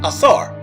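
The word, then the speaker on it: Asar: kimet are Nam after Osiris the Egyptian pronunciation assar so you're name after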